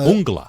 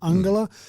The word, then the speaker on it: Uungula: expert on it, but I actually say Uungula. So they probably used Uungula as their pronunciation of it in the news, and hopefully that's right. But that's the double U at the beginning of it is what says to me it's Uungula rather than Ungula.